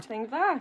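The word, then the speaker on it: madainn mhath: we can say hello which I think is madinva. Is that right? Madva. Good thing. Yeah. And that's how you pronounce it. That's spot on.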